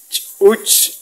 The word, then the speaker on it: ch'uch: Ch'uch, fíjense el saltito de la CH con el apóstrofe. Ch'uch, ch'uch, es como parar el sonido.